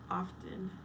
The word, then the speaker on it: often: Furious says, I noticed you pronounce the T in often. Yes, I do.